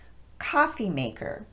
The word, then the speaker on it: coffee maker: machine here's another one coffee maker we stress the word coffee as we normally would and then de-emphasize both syllables of maker so it's coffee maker not coffee maker all right now that